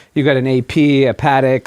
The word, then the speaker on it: Patek: If you're on your second or third, you're like, you got an AP, a Patek, like the more trendier watches of the moment. Patek, please. I could say Don't. Paddock.